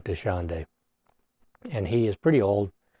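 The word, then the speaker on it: Dachande: Predator is called uh desande that's as close as we can get to pronouncing his name desande and he is pretty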